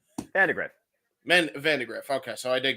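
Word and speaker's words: Vandagriff: though by uh Matt vandar how do you pronounce his name Vandergriff Vandergriff okay so I did get that's lit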